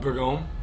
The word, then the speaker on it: Bourgogne: pronunciation on that again. Bourgogne, Burgundy, Bourgogne, Burgundy, crescent roll.